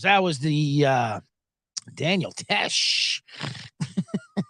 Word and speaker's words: Tesh: fun it's so funny I said Peter Tosh say Daniel Tosh it is Tesh John Tesh whatever [ __